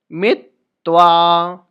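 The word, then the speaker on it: मित्त्वा: सादा मितवा ध्यान दीजिए य पर त भी डबल है तो हम क्या बोलेंगे सद मितवा मित्तवा यानी कि डबल त का उच्चारण हमसे लेंगे सदा मितवा सदा मितवा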